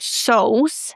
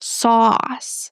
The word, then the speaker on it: sauce: Guys, it's not soce and it's not sauce, it's sauce. The aw sound.